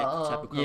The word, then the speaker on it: Tapu Koko: Tapu Koko?